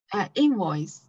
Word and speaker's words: invoice: 说这个 invoice 它重音在 in 这里、invoice，然后还有这个是 entry 对的 entry Yeah, entry.